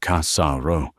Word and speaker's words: Cassaro: He didn't say Cassaro like an American. He said Cassaro with a slight stress on the first syllable, and the R was rolled, but softly.